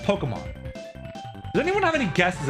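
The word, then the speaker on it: Pokémon: So when they were introducing Pokemon, they wanted people to pronounce it Pokemon. Pokemon. Pokemon. Right. And so the stress was there to tell you, hey, it's not Pokemon.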